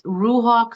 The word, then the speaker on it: Ruhawk: So it's Ruhawk and Ruhawk is spelled R U H A W K Z A R A M A R L E Y Ruhawk.